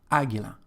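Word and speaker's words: Águila: a feminine word and we've got the stress just on the first syllable Aguila for this reason we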